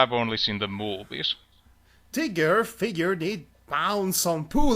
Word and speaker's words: Tigger: He thought, nobody can stand up after Tiger. It's pronounced Tigger.